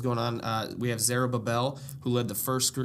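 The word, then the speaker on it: Zerubbabel: written what was going on uh we have zarab Babel who led the first gr is I pronounced that right oh yeah okay thank you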